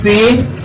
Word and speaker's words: سين: কারিশারের কণ্ঠে صاد صاد صاد صاد صاد صاد এরপর হরফের নাম হলো সিন। নরম হবে, শ্বাস চালু থাকবে, 12 নম্বর বাক্য অনুযায়ী হরফটাকে উচ্চারণ করতে হবে। আমি বলবো, আমাদের শুনে শুনে আপনারা বলবেন সিন। সবাই সাথে সিন সিন সিন সিন সিন সিন সিন